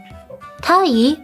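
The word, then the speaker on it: 鯛: Tai, by the way, is a name of a fish, sea bream. This is a lucky fish since the name rhymes with the term medetai, which is a term that means happy or celebratory.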